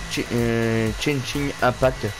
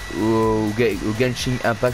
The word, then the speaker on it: Genshin Impact: Et n'hésitez pas, hier j'ai sorti une vidéo sur un jeu qui s'appelle Chin Chin Impact, je sais plus si on prononce comme ça, ou Genshin Impact, je crois que c'est Genshin Impact, je crois.